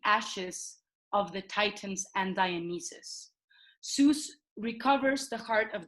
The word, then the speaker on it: Dionysus: Dionysus, I pronounce it that correctly? Dionysus, yeah.